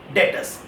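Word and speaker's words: debtors: डेटर्स। लिखा जाता है DEB एंड B is silent. बोला कैसे जाता है? डेटर्स।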